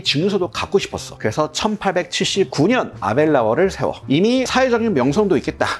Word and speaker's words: Aberlour: 팔리는 식물몰트 스카치 위스키야이 이름은 우리식으로 읽으면 아벨라워 근데 현지에서는 아발로 이런 발음이더라 뜻이 수다스러운 개울의 입구야